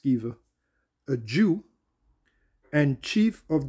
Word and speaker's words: Sceva: And there were seven sons of one Sceva, or Sceva, I believe it's pronounced Sceva, a Jew, and chief of the priests, which did so.